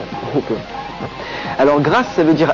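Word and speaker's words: Grasshopper: grass her grass Hopper car en anglais le H se prononce Hoper alors grâ ça veut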